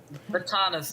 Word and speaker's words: Batanes: of the Batanes or Batangas or however I pronounce it, it's between Batanes. Batanes.